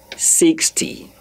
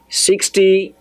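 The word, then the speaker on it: soixante: Please, the last E is not pronounced.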